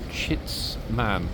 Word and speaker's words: Chitsman: And that question is, what is a chitsman? Okay, let me spell it: C-H-I-T-S-M-A-N.